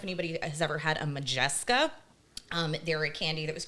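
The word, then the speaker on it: Modjeska: Was it spelled like M-A? M-O-D-J-E-S-K-A. Oh, I was thinking. Majeska.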